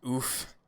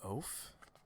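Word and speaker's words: Ouphe: I always pronounce it oof. Oof. I think it's an oaf. But maybe it's an oof. Do you just like saying oof? Is that why? Not oaf as in like OAF, like a big dumb oaf. It's oof, right? Maybe I'm the one that's saying it wrong, Phoenix. Maybe it is oof.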